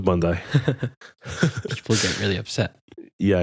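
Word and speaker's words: Bondi: these are the aqua Bundy and all the other candy colored iPhone uh not iPhone iMac I think you said it wrong what what did I say I said Bund bundai yeah probably bundai people get really upset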